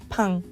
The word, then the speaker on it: pain: The next word is spelled like the word pain in English, but it's pain.